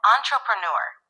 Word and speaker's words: entrepreneur: The word entrepreneur is pronounced as entrepreneur. The emphasis is on the last syllable, newer.